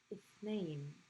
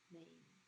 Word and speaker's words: اثنين: اثنين is a word that starts with the starts with the hamza sound, but you don't actually write the hamza. There's a handful of words that are like this, so you're not going to write the hamza for this one.